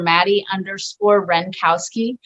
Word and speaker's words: Madi Wrenkowski: Yeah, it's very easy to pronounce and spell once you slow it down in your head. It's not one of those, you know, that has a silent like eyes hidden somewhere that.